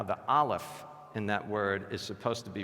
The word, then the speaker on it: Aleph: And on top of that, of course, what sound does the Aleph make? None. It's a silent letter.